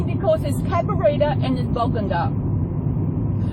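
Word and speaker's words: Bogangar: Cabarita, it's really funny because there's Cabarita and there's Bogunga. Some people pronounce it Bogunga. It's Bogunga.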